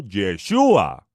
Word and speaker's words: Yeshua: dado por el todopoderoso no por el nombre dado por los griegos los españoles o por aquellos que pronuncian mal la letra j el todopoderoso envió un